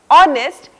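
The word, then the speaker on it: honest: लेकिन कई शब्दों में ये मूक यानी कि साइलेंट रहता है, जैसे आवर, ऑनेस्ट, इस तरह के शब्द।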